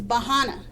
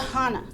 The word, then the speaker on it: Bahana: the first sign is how you pronounce that first word is bahana bah bahana bah with a b b bahana which means if you